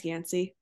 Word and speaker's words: Yanci: Instagram is aore yanci 11 last name is yansy a lot of people ask me how that is pronounced and then I also have a business page which is just Optimal wellness.